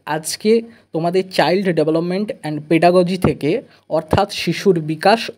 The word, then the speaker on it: pedagogy: সেই 150 নাম্বার পরীক্ষার মধ্যে তোমরা দেখো স্ক্রিনে দেখতে পাচ্ছ চাইল্ড ডেভেলপমেন্ট এন্ড পেডাগজি এটা পেডাগজি অনেকে গগি বলে একচুয়াল প্রোনাউন্সিয়েশন গগি নয় পেডাগজি ঠিক আছে এখান থেকে 30 নাম্বার থাকবে ল্যাঙ্গুয়েজ